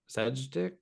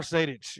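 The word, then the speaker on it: Sejdić: Sejic? Amar Sadic. Yes. Sadic. I He mean, did what to I the always dick? get right. the European names get me. Yeah, Sadic. Amar They do, Sadic.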